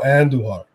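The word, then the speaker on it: Andújar: Miguel Andujar was taking roll your R's, guys.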